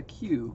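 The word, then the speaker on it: queue: a line of people a q q e u e the dumbest spelled word every single letter is silent except for the first one yep you might as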